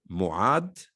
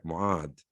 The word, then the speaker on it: Muad: And I have to ask, because I'm very bad with the Ain. Muad? Am I Yes. pronouncing? I'm Yes. pronouncing your name right, Muad.